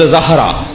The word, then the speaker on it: زہرا: زہرا اجلت میں بولتے ہیں ہم، تلفظ زہرا.